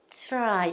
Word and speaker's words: try: 근데 트라이 하시면 안 되고 어떻게 하신다? 트라이 이렇게 하셔야 된다. 특히 요 T 다음에 R 발음이 나왔을 때 특히 얘가 아주 트에 가까워요.